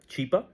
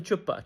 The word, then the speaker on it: Chipa: His name is Chipa, Mr. Chipa, and she starts mispronouncing, and she calls him Chupa, and yeah, Chupa is